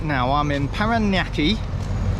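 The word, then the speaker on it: Parañaque: I've been pronouncing it paraki and it's not panaki it's felt panaki but it's got that squiggly thing going across the N um I don't know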